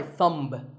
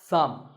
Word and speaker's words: thumb: this is my thumb it's not my thumb it's pronounced thumb and what about this